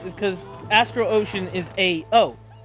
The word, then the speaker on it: Ao: And the reason why that's the case is because Astral Ocean is AO.